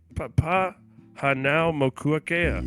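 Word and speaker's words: Papahānaumokuākea: Papa Hanao Mokuakea. You're looking at how to pronounce No, these that guy, name dude.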